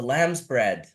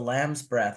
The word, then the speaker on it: Lamb's bread: the cultivar in Jamaica I think a lot of people mispronounced it or couldn't understand the Jamaican pwa so they turned it into breath and a lot of people for a long time thought that it was the Lamb's breath it's a very human